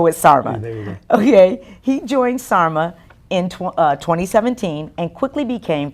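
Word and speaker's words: SAHRMA: he joined in is this an acronym Gonzalo should I be saying how do you pronounce it um you can say Sarma Sarma or you can say San Antonio human resource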